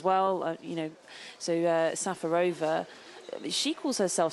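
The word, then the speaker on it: Šafářová: they change as well you know so uh safarova she calls herself safarova but now all the umpires are calling her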